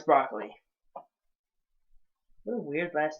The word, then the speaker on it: Broccoli: Yes, that's how you pronounce his last name, Broccoli. I thought it's Broccoli. But no, it's Broccoli.